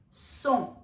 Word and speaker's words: cent: Like 100 in French is known as cent. Cent. It's spelled as C-E-N-T, but it is pronounced as cent. E-N-T, E-N-T will have an on sound.